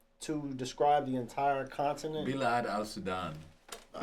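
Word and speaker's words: بلاد السودان: I might be pronouncing it incorrect. Is there a term to describe the entire continent? Bilad al-Sudan.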